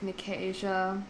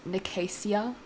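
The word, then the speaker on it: Nicasia: your least favorite valerian loch necasia i always used to say her name was nicaisia anyway carden valerian was on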